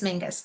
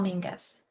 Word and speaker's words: Menzies: But because it's spelled Menzies, Yeah. but it's Mingus, Castle Mingus.